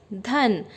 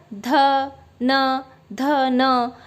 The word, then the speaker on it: धन: अब जैसे यहाँ पे दो वर्ण वाला शब्द है धन, तो इसको बच्चा कैसे पढ़ेगा, ध न। पर ये गलत है ना प्रोनाउंसिएशन।